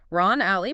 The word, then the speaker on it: Alley: Ron Alley, pronounced Ron All, Ron, I got it.